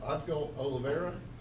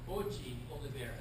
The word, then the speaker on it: Oji Oliveira: Is it Odgo Oliveira? Did I get that right? Not quite. From the downtown. Okay, how do you pronounce it? Oji Oliveira. Oji Oliveira.